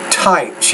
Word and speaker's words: types: You say soil and rock types. You need to pronounce that T with a little more air.